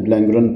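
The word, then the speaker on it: Blanguernon: Professor Claude ब्लैंगरन, नॉन नियन ब्लैंगरन पढ़ना है उसको, क्लियर.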